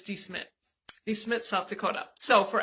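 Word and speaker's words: De Smet: We had to have the locals tell us how to pronounce it because I call it DeSmet, but it's DeSmet.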